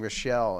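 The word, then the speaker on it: Rachele: putting a record out her name is Sarah Kelly but it's spelled r-a-c-h-e-l-e so I was saying Rochelle and I'm seemed to write to me but yeah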